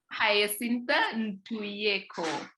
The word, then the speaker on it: Hyasintha Ntuyeko: Now I'm from Africa, I need to be able to pronounce African names. So It's Hyasintha Ntuyeko. Hyasintha Ntuyeko.